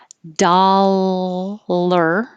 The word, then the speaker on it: dollar: how they actually sound the only difference is the l and the d dollar with an l and dot der with